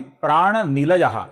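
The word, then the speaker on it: प्राणनिलयः: आगे का नाम है प्राण निलयः, इसमें नी ह्रस्व है, इसका हमें लघु उच्चारण करना है। इसके विसर्ग का आगे पो आने के कारण हम अपूर्ण फ ऐसा उच्चारण करते हैं।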